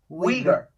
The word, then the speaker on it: Uyghur: it uber's wiegers wieger say it with a w like we are we go oh wigar okay it's um w